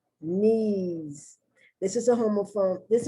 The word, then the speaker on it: Nice: i have the word knees i know i'm not going to pronounce nice because n-i-c-e also means nice but when it's a city in france it's nice knees and you have to do